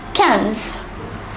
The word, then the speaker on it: quinze: 11 is onze, douze, treize, quatorze and quinze. Let us go over to the next 5 numbers. The number 16 is pronounced as seize.